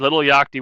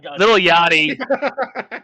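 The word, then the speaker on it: Lil Yachty: two years and beat Trick Williams who had Little Yaki with him and Little Yaki or Yaki, I don't know how to say his name. Yachti. Little Yachty.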